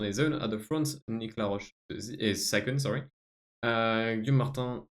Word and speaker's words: Nicolas Roche: Actually, Nicolas Roche, sorry. Because it has to be pronounced the French way.